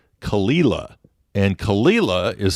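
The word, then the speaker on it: Caol Ila: and then there's another distillery there that's called kalila and kalila is spelled c a o l space i l a yes kalila is how they pronounce that so it's just going to take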